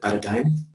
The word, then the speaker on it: paradigm: We discussed 8, panduan, paradigm, yeah, this is the way you pronounce it, paradigm.